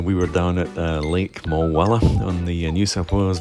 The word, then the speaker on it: Mulwala: I've discovered it's not pronounced Mulwala. The locals pronounce it Mulwala.